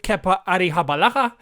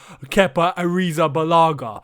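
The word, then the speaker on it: Kepa Arrizabalaga: in the season ahead i'm sorry every time i uh pronounce kepper's name i have to say it like that i can't just say keppa ariza balaga because if i do that i feel like i'm doing him an injustice i might be doing him an injustice trying to pronounce it the correct way to be honest because i'm not spanish but i hope i'm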